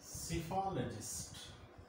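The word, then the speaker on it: psephologist: And our today's word is cephalologist. Cephalologist. It is a noun. And the first P is silent.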